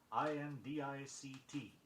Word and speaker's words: indict: Don't put an extra sound in indict. I-N-D-I-C-T.